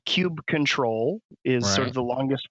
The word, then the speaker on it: kubectl: The command line tool is KUBECTL, right? Okay. So cube control is sort of the longest form.